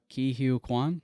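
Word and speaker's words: Ke Huy Quan: Ki Hugh Kwan.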